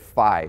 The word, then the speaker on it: phi: the human body the concept of phi or fee as some other people pronounced and it's basically the